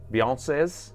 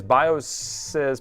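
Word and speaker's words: BIOSes: for for Bio Biosyses, Beyoncees, Beyonce's. The plural of BIOS is Bioes, but you can just pronounce it as Beyonce, like the singer, you know.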